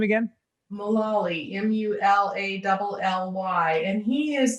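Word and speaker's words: Mulally: world and who's this say his name again malawi m-u-l-a-double l-y and he is the ceo who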